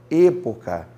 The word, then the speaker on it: época: Então eu tenho que ensinar para vocês que a pronúncia correta do e do o é e e o. É a, e, i, o, u. América, época. América, por favor? América não, América. América, época. Esta é a pronunciação mais correta.